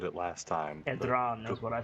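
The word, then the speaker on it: Edrahn: Edran is what I said last time. Edran. You know what? Can you spell that for me?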